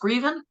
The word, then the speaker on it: Greaven: And so is it pronounced Greaven?